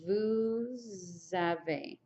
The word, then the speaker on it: vous avez: going to have to do the liaison again. So it's vous avez.